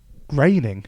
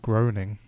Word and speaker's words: Groening: Obviously, Matt Groening is often the big name in The Simpsons, but another pronunciation thing. What? I say Groening. Groening? Yeah. There's no A in it.